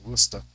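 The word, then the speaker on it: Worcester: pronounced wer like they have a place named Dorchester and warchest and one of them's pronounced Dorchester and the other ones pronounced wusta so I I was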